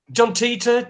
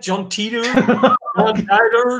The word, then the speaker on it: John Titor: I never heard of John title if you pronouncing it right now John Titor John Titor jab jab didn't know it was the first